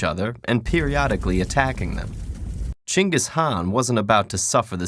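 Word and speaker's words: Genghis Khan: KH I see your honor is familiar with genas Khan the 13th century warlord whose military campaigns killed millions and left nothing but destruction in their wake objection first of all it's pronounced chingus Han really in Mongolia yes regardless he was one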